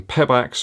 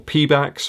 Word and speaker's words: Pebax: We got the Floatride foam here, but also with some Pebax or Pebax, however you want to pronounce it, foam also within the midsole.